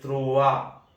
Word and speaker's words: trois: I repeat again, un, deux, they, trois, troa, ois wa, so rois roa, trois troa. qua tre, tra, quatre.